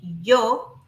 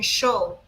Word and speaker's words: yo: comes to the pronunciation, we say yo in Spanish in different ways. So you might be listening to me saying yo, but maybe you know someone from Argentina saying show or maybe you know someone from other Spanish speaking countries saying yo and I say Joe like harder. So all those uh pronunciations are perfectly good correct fine because uh remember